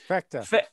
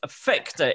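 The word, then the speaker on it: Phecda: The third brightest, the gamma Ursa Major, is Fector. Yay. How do you say that again? Fector. Fector. It's P-H-E-C-D-A. Fector. It's not far from sphincter.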